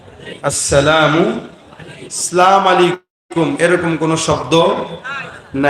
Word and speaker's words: আসসালামু আলাইকুম: আসসালামু আলাইকুম কি আবার উচ্চারণ করেন আমার সাথে আসসালামু শুরুর হামজা আর শেষের মিম আসসালামু আলাইকুম আসসালামু মানে কি জানেন